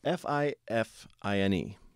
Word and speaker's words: Fifine: It's spelled F-I-F-I-N-E, but I have been told that it is pronounced Fifine, like double fine.